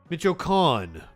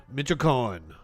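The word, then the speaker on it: Michoacán: Pronounce it for me. Michoacan. Michoacan.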